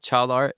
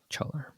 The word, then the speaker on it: Caglar: So uh yeah is spelled e m r e. Yep. And then uh chalar is c a g l a r chaler.